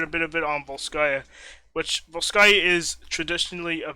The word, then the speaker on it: Volskaya: Oh, it looks like we're going to Volska Industries for the final and 7th match. Volska Industries, is that what you said? Volskaya.